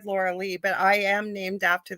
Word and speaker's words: Lorelei: Lorelei. It's spelled Yes, Lorelei. I said Lorilei, but I am named after the mythology of the yes, Lorelei's.